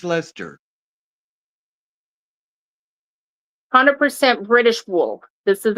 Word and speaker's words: Leicester: Okay, you have to pronounce this word. Leicester. Lester. Lester? That's blue-faced Lester.